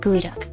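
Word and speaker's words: geoduck: Like it's spelled like geod duck, but you say gooey duck.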